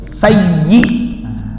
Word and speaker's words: sayyi: Sayyidina mestinya apa? Sayyi. Sayyi. Sering itu ada yang kurang tepat dalam pengucapan sayyi.